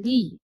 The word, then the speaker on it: 이: I itu biasanya diucapkan Lee kalau dalam bahasa kita ya.